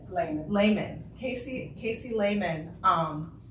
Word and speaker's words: Lehman: wonderful person, writer, um how do you say your last name? Is it Layman? Layman.